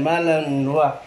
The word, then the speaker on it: Malinois: Belgian Malinois. Malinois ba ano yan, be?